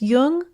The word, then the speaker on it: Jung: just be sure to pronounce Jung with a hard J so with special thanks